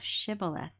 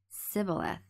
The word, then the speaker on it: Shibboleth: If he said, Nay, then they said unto him, Say now, Shibboleth. And he said, Shibboleth, for he could not frame to pronounce it right.